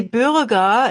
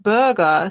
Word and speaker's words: Bürger: a coworker, told him, it should be Bürger instead of Burger. So the pronunciation.